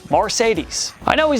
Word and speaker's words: Marcedes: crazy part is that his name isn't even spelled like the car it's spelled exactly how it sounds marcedes I know he's not